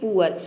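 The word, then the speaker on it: poor: pronounce करते हैं और कहीं पे इसे ओ प्रोनाउंस करते हैं जैसे कि पुअर यहां पे देखिए अब आप सोच रहे होंगे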